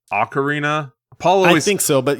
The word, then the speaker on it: Ocarina: since I have played oakarina of time but somehow those Tunes are still just in the recesses of my brain and the funny part too is I think it's actually pronounced Ocarina Paul always think so